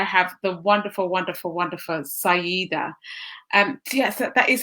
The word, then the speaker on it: Saiyyidah: so today i have the wonderful wonderful wonderful syeda and yes that is how you pronounce it isn't it syeda say either yep